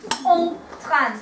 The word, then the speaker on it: train: They spell it exactly the same way as we do. But they pronounce it en train.